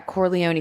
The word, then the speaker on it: Corleone: Corleone? Yeah, Corleone family.